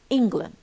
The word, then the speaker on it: England: word we distort the whole word we spoil pronunciation. we say England شايفين طب واللاند بنقولش لاند بقى لاند لا بقت weak.